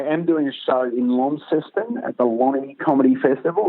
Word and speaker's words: Launceston: But I am doing a show in Launceston at the Lonnie Comedy Festival, which is a new festival starting up next year.